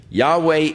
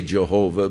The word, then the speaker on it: Yahweh: of Yahweh now again Yahweh is the name of God as far as we can know pronunciations that is as close as man some say Jehovah but uh more generally